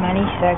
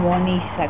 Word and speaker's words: Manisa: Mi nombre es Manisa, pero la pronuncia de los hindúes lo pronuncian Monisa, como la A, como con O, ¿no?